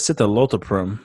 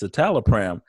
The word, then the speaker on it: citalopram: was trying to say citalopram and she was mispronouncing it I think she said sit a little firm or something that's close she got out of the driver yeah it's just pronounced citalopram and then the other owner tech goes don't